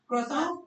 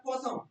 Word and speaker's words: croissant: है प्रोनाउंस करो इसे The pronunciation is croissant या croissant R pronounce नहीं करेंगे pronunciation क्या होगी croissant